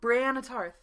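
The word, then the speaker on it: Brienne Tarth: Brianna Tarth.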